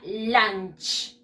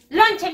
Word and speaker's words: lunch: y eso no no se escribe el lunch y se pronuncia lunch lunch gay lunch gay lunch the world lonche me no lonche no es chicos no es londres